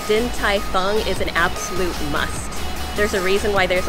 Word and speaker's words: Din Tai Fung: at din tai fung did i pronounce it right correct yep din tai fung also known as dtf